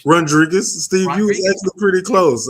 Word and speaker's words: Rondregus: Rodri Rodriguez or how do you say your first name? Rodriguez.